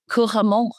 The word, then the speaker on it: couramment: Where is the emphasis? Couramment. Couramment. Am I saying it right in the time? Sorry? First syllable? No, all of them. Oh, yes. Mais là, je vois que il y a de la. It's like every single syllable gets the same emphasis.